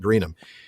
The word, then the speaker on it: Greenham: you would pronounce it greenham. It's a Saxon word for home or settlement like Birmingham or Nottingham.